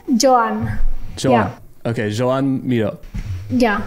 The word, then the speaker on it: Joan: is j oan ah joho yeah joh joh Johan like Johan joh okay Joan moo yeah cuz I know